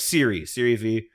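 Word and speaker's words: Serie V: So like Siri V, it all just comes from the Spanish. That's like the Spanish pronunciation.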